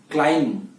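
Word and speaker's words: climb: या थम या क्लाइम, तो इसके एंड में जो बी है उसका उच्चारण नहीं करना है। तो हमेशा जो भी शब्द के अंदर MB एंड में आता है तो बी का उच्चारण नहीं होता है, ये याद रखना है।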